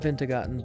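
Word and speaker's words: Wintergatan: It's pronounced Vintagotten, but it's spelled Wintergaten.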